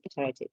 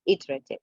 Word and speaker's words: iterative: and over again and notice the pronunciation oh this is American sorry and this punch so it's better I think it was iterative iterative so okay could you hear